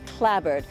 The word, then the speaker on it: clapboard: it's got these houses which are clapboard but here it's always pronounced clabber and it's this sort